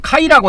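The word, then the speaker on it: καί: 그래서이 그래서 그 헬라의가 보면 카이라고 있는데 카이가 이제 그리고 이런데 요새는 이걸 케 이렇게 발음을 해요. 현대 현대 그리스에서는 그렇게 발음을 한다이 말이야.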